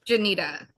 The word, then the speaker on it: Jeanita: I don't want to mispronounce it. Janita. Janita.